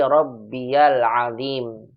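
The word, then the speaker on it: ربي العظيم: Contoh ini subhana rabbiyal azim dibacanya rabbiyal, bukan rabbi tapi rabbiyal azim.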